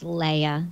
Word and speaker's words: Leia: I'm getting a message that it's Leia. So Leia, yeah, so I'm definitely pronouncing her name wrong.